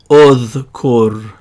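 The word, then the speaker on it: اُذْكُرْ: That tells us that we're going to put a dhamma in our mind on the hamza and pronounce it udhkur.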